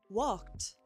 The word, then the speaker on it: walked: Walked. walked. It's a t ending.